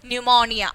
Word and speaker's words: pneumonia: so the word is pneumonia okay so pneumonia we have to write pneumonia with p but don't say don't say don't pronounce the letter p okay next comes castle